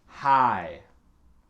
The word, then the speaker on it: high: Ensuite, on a c'est high. High. Donc, il faut prononcer le H au début et ne prononce rien à la fin. High, c'est pas hive comme on a vu avec le mot cough.